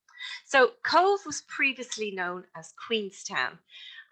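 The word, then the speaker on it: Cobh: carpage but the bh in irish australia is pronounced as a v so cove was previously known as queenstown and it was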